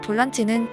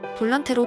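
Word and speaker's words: volante: 하지만 볼란치는 포르투갈어 발음이고 볼란테는 스페인어 발음입니다.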